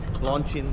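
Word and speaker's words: Loncin: So nandito na tayo sa Lonsin Factory. Ayan. samahan niyo ako. Pasok tayo. So nandito tayo ngayon sa Chong Ching China. Ah particularly dito sa Long Chin Factory. Launchin daw yung ano nila pronunciation.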